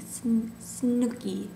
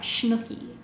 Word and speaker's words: Snooki: Snooki, not Schnooki.